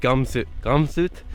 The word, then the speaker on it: Gomsdol: Alright, so apparently the village of Gomsdol, well, it's actually pronounced Gomsut, is about 11 kilometers up this hill.